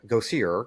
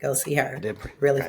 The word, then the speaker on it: Gosier: Go see her. Correct. Yes, correct. Go see her. I pronounce that correct.